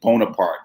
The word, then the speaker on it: Bonaparte: call it bonaparte bonaparte but the uh correct pronunciation is bonaparte so without the tell you at the end